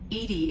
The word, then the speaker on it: EDI: a specific inquiry why are you named Edie Edie is the phonetic pronunciation of e di that is an acronym